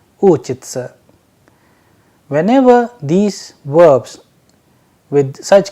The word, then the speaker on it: учится: the and soft sign, whereas in the second verb it is ending with sa and ya, that is why the pronunciation is uchitsa.